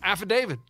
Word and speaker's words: affidavit: see the word yeah it's affidavit spell it a-f-f-i-d-a-v-i-t but how do you that's how you say affidavit it's spelled with the t at the end say yeah but the